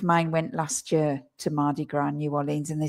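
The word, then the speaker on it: Mardi Gras: It's Mardigra in New Orleans. You don't pronounce the S on that. It's Mardigra and fat cheese day.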